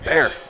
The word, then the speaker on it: Byer: His name is pronounced Bear, like the animal. Bear.